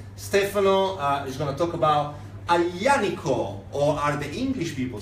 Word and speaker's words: Aglianico: speaking people say, the Aglianico. Please don't say that, it's Aglianico. I know that the Y is a sound that is not very easily pronounceable, but please do make an effort.